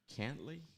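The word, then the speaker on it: Cantlay: was how do you say his last name cantley cantley yeah so it came down to a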